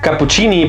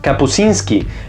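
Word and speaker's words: Kapuściński: reportero jamaicano Bob dickens dije rizard capuchini pero en realidad es rizard capuzzinski espero estarlo pronunciando bien porque la verdad yo no sé polaco así que por favor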